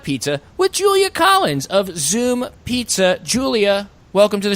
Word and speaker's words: Zume: no oow over the U but it is pronounced Zoom okay so Zoom Pizza uh what would you say makes Zoom